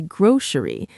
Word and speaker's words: grocery: You can say grocery with an s sound or as many people in the US do, you can say grocery like it has an sh sound in the middle.